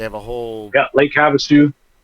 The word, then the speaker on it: Havasu: So, and or Havasupi. They have London, the original London Bridge. They have a whole Yeah. Lake Havasu.